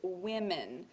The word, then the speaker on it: women: one woman and then the plural form which is women and it's a short I like the word width or in it with with men so it's